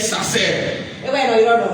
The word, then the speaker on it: sacer: Alors le mot sacré, étymologiquement, vient d'un mot latin qui est sacer. Ça s'écrit S-A-C-E-R.